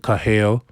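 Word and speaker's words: קָהָל: You pronounce it Kahale.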